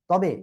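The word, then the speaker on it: طاء: ত মোটা আওয়াজে হবে।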